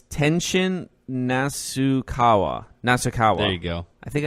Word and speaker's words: Tenshin Nasukawa: Let's see if I can pronounce this. Tenashi something. Not Tekashi 6ix9ine. It's Tenshin Nasukawa.